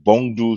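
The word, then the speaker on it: Bungo: It's Bongdu Stray Dog. That's how you pronounce it.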